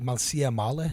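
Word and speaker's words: Malësia e Madhe: That's what Montenegro, like Malsia Male. That's how you say it in Albanian.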